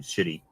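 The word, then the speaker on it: Schiti: um Valerio City covers I don't know how else to pronounce um his name without saying shitty um s-c-h-i-t-t-i it's Italian this was a super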